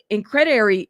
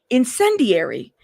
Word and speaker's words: incendiary: Is it incrediate? I'm going to have to look that word up so I know how to say it correctly. Hold up. Incrediary? Incrediary? Hold up, y'all, so I understand. I don't want to say the wrong word. Incendiary. Okay, I know what that word means.